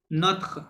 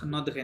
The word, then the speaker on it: notre: Épaulé, হুম, no- épaulé notre, নথ নথ নদরে না, নথ। notre, হ্যাঁ oh, ইটা silent, জি, নথ, notre, হ্যাঁ হ্যাঁ, এপোলে notre, নথ।